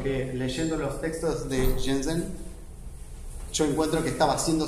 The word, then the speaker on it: Chen Zhen: Yo tuve la suerte de encontrarme en las entrevistas de este artista chino, se llama Chen Zhen, que en chino se pronuncia Chen Zhen.